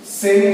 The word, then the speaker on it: Seine: हम लोग इसे जब लिखेंगे तब यही स्पेलिंग लिखेंगे SEINE, लेकिन जब हम लोग इसे उच्चारण करेंगे तो SENN, सेन होता है इसका उच्चारण, लेकिन लिखते वक्त जो